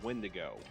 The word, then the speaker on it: Wendigo: Secondly, it's pronounced Wendigo.